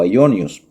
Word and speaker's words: aionios: en hebreo olam y en griego se pronuncia aion o aionios.